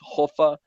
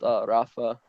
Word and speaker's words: Rafa: tell me more like Portuguese pronunciation is like now now it's hofa not Rafa um okay so it's